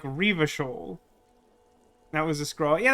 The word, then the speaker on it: Revachol: The little pronunciation guide that I cited at the start of the stream suggested that you were supposed to put more emphasis on the first syllable. So it'd be like Revachol.